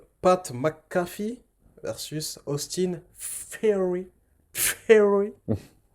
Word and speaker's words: Theory: Theory. Ça se prononce comme ça, hein.